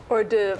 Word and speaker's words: hors d'oeuvre: You just how do you pronounce this? Hors d'oeuvre.